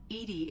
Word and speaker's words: EDI: the name come from why are you named edie edie is the phonetic pronunciation of edi that is an acronym for